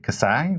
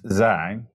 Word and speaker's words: Xi: I've seen people spell this way and pronounce it KSI, which is a little bit weird. It's XI, the XI matrix.